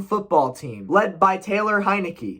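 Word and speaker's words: Heinicke: team led by taylor heineke is that how you say his name hinaki heineke i don't really know all i know is it sounds like the beer company he doesn't need to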